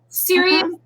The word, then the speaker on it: Sirius: Sirius? Sirius XM. So Sirius was one satellite company and XM was another, and they came together. Ironically, they have recently merged also with Pandora. So we're on Sirius XM.